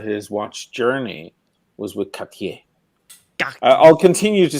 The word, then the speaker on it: Cartier: and you roll the R, but it's like at the back.